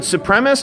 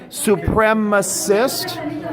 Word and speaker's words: supremacist: are you okay okay is it supremest or supremacist you spelled it right but you're not saying it right okay try it again supremacist can you say that try to get